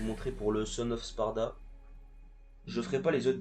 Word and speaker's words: Sparda: Donc on y va sans plus tarder avec le prologue en Son of Spard ou fils de Sparda. Moi je le prononce à l'anglaise.